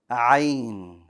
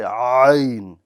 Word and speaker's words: ع: Ayn. Ayn. Very good. This is a pretty difficult letter to pronounce. So this one's going to require some practice. It's not impossible. It just needs practice.